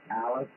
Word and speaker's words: Alice: It's a little town named Alice, like Alice in Wonderland. Is it Alice, like the lady's name, Alpha, Lima, India, Charlie, Echo, over?